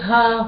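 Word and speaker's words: הַ: Et donc vous reconnaissez à la ligne suivante Ha, la lettre He en début de mot qui se prononce Ha et qui veut dire le.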